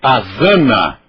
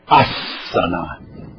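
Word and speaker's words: आसन: o som da letra meu querido azana não existe não existe o som do Z é assana assana e isso de pronunciar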